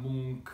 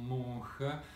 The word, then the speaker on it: Munch: famous works of painting decided to use the pronunciation munch and non mur after having listened to a video made by the oslo museum I still ask you